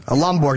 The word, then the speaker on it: Lomborg: Bor what's up Bjorn how do you say your name man lomborg not Borg that's good LG sir